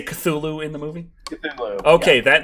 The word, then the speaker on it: Cthulhu: They say Cthulhu in the movie. Cthulhu. Okay, yeah. that makes it official. It is Cthulhu.